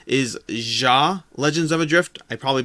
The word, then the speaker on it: Xia: Legends of Adrift system, which I always say Zia Legends of Adrift, although I believe the technically correct pronunciation is Ja Legends of Adrift.